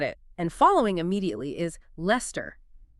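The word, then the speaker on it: Leicester: The pronunciation of Lester follows the exact same pattern. So, two syllables. Lester. Lester. The knowledge you gain from Worcester immediately transfers to Lester.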